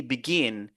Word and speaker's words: begin: quel syllabe se focaliser regardez on dit begin regardez vous avez toujours l'apostrophe ici qui va toujours nous aider à savoir sur quelle syllabe se baser ok donc on a